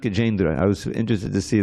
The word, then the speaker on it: Gajendra: And it's pronounced Gajendra.